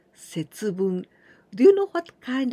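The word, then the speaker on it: 節分: Well, we add this kanji, bun, here we pronounce bun. But this is ippun, nifun, sanpun, yonfun. This is minute, okay? And also this is the kanji of wakemasu, to separate. And together, we pronounce setsubun.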